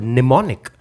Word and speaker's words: mnemonic: unexpected ways for example the word mnemonic contains a silent M which is a perfect